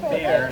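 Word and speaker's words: Bexar: And the word bear, if you ever see that word, it's spelled B-E-X-A-R. If you see that word in this courthouse, you better say bear, not backside. If you say backside, you'll be treated as a threat.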